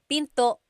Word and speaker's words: pinto: is p and remember don't forget the glot stop don't forget to stop the sound at the end that's called a gladle stop Pinto Pinto it's not Pinto